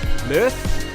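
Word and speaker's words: Mearth: I have been in touch with Mirth. That's how you say it. M-I-R-T-H. It's spelt M-E-A-R-T-H, Scooters.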